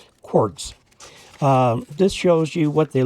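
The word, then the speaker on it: Quarz: Now, normally in German, Q-U-A-R-Z would be pronounced quartz, because Z is pronounced as T, like that, a T followed by the Z, quartz.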